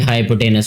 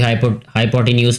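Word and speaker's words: hypotenuse: ये ठीक है, मैं इसको हाइपोटेनस पढ़ता हूँ, मुझे ये ज़्यादा बेहतर प्रोनाउंसिएशन लगती है। कोई हाइपोटेन्यूस भी पढ़ते हैं इसको, लेकिन जो है वो मेरी प्रोनाउंसिएशन हाइपोटेनस ही होगी ये।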